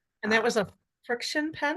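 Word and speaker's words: FriXion: And that Uh, was a friction pen? it's called Friction. It's like friction, but spelt with two X's.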